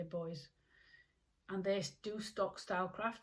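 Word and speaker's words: Boyes: I'll head off to Boys. I'm in Yorkshire, so in the UK. So that's B-O-Y-E-S. I don't know if you say it like that. I say Boys.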